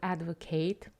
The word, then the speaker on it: advocate: So when you have verbs, you have the stress on the second syllable, advocate, and advocate is a noun.